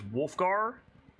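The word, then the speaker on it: Wulfgar: I've said Wolfgar's name wrong so many times across DA, but now I've seen it written out, and so yeah, it's Wolfgar.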